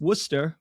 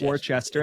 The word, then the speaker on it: Worcester: 99% of the country you would read it phonetically as Worchester and I did that